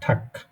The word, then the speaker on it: Tag: হচ্ছে এই যে গে, এই গেটা যদি শব্দের এরকম শেষে থাকে, এই যেমন কেনা এখানে আছে শব্দের শেষে, এরকম শব্দের শেষে থাকলে তখন ওইটা একদম কয়ের মতন উচ্চারণ হয়। যেমন এখানে হবে এটা ঠাক, গুটেন ঠাক না, কয়ের মতন ঠাক।